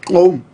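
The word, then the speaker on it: gqom: big fan of home correct pronunciation clone g-q-o-m they say it with a click of the tongue jerusalem s you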